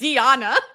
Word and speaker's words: Deonna: It's Deonna. I'm saying how Donna. It's like Donna, Deonna Purrazzo. That's what it is.